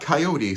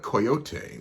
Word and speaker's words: coyote: Not coyote so much, but coyote, which is actually the actual Mexican pronunciation of the word.